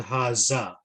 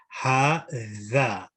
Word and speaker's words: هذا: So some of us are saying man haza. So you want to be careful because it's the Arabic language. You want to ensure correct pronunciation. So man ha-tha. So dal, you need to just stick your tongue out slowly. Man ha-tha.